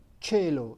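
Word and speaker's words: cielo: is e and a the letter c is pronounced like you pronounce you pronounce it in the word chair so like the sky is a cello in italian and is written c-i-e-l-o i remind you to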